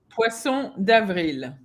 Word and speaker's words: Poisson d'Avril: How you pronounce it? Poisson d'Avril.